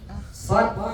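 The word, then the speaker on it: صاد: Sod, sin, kaf, dan ta sekaligus ini ya kita ya. Sod dulu. Sod. Sod. Nama hurufnya apa? Sod. Sod. Bukan so ya. So itu kalau berharokat. Namanya sod.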